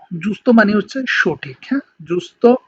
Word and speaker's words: giusto: ওকে, জি ই এবং উ যদি একসাথে থাকে তাহলে উচ্চারণটা হবে উ এর মতো, যেমন হচ্ছে জুস্ত, জুস্ত মানে হচ্ছে সঠিক, হ্যাঁ, জুস্ত মানে হচ্ছে সঠিক।